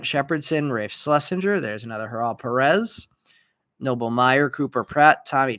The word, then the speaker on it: Haral Perez: I've been calling him Jaral Perez. Apparently it's Haral Perez.